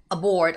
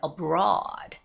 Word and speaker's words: aboard: an envelope message so I would see the word aboard a lot but I hear a lot of students say on board welcome on board or sometimes they would say not aboard but abroad abroad you know they look